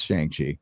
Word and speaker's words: Shang-Chi: weekend for uh is it shang chi or shang shi i don't know i think it's it's they say it's shang chi i've been saying that forever okay all right